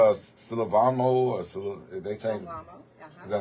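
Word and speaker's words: Sylvamo: Silvamo.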